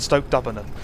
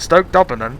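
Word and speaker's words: Stoke D'Abernon: Cobham and Stoke Dubbernon. It's so good. It's so good. I don't get why I like it, but if it's how it's spelled, it's like Cobham and Stoke D apostrophe Dubbernon, something Aberdeen.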